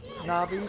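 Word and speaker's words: Navi: Na'vi, I keep wanting to call her Siri. It's two syllables.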